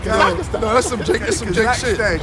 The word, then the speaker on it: Kazakhstan: Yo, he put an extra A in it. Kazakhstan.